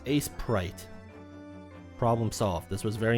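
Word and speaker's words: Aseprite: abbreviated with ASE so the prefix is still pronounced as Ace so it's Ace prite problem solved this was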